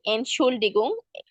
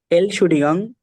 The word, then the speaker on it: Entschuldigung: আপু আমি, হ্যাঁ, ওকে, এলশুডিগং মানে excuse me, es tut mir leid এনশুল্ডিগুং, মানে এল, এনশুল্ডিগুং।